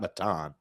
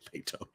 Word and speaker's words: Maton: It's not Matan. I think it is Maytone. I don't think it's Matten. I think it's Maytone.